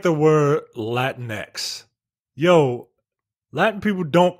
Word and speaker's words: Latinx: like like also also micah excuse me it's pronounced latinx i i think i know and it looks